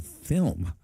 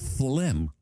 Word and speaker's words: Flim: I just now noticed, actually, from probably either your chat or mine, I've been saying film. It is Flim. I'm saying it wrong.